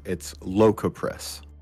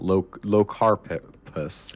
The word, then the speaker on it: Locopress: And then I gotta remember it's Locopress. It's not Locarpus.